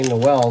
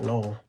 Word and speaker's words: Noel: Well, I keep wanting to say Noel the way it's spelled, but all right, Noel.